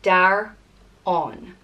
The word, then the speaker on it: Daireann: And it's pronounced Daireann.